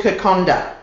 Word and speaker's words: Kokoda: o d a but in Fijian language what happens is that when you have a d with a vowel before it there's an N that you can't see therefore it